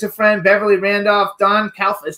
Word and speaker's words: Calfa: Cairn, Linnea Quigley's a friend, Beverly Randolph, Don Calfa. How do you pronounce his last name?